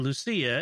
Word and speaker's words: Lucia: As a Portuguese person, I just wanted to let you know that the C in Lucia is pronounced as an S, like Lucy in English, not as ch or ch.